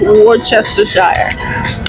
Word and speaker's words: Worcestershire: know how we say War sister Sheree or Worchester shy how you say it I threw my arms up and said it's Worcestershire sauce what the hell is worcestershire Worcestershire sauce is it's but it's pronounced Worcestershire I'm gonna probably share this video once it's